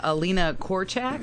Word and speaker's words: Alina Korchak: Russian journalist that you connected with as well Alina korchek I believe is how you pronounce her name yeah well confirm that with